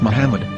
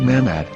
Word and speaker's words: Muhammad: after the H according to Ben yehuda's Hebrew English dictionary it is correctly pronounced as Muhammad not mmad so how we're going